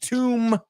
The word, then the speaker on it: tomb: Tomb rhymes with womb.